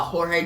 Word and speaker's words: Jorge: how to pronounce uh jorge james's name i used to say george the mess but then the whole batman through joker's no batman joke award panel i found out you pronounce it jorge but still jorge does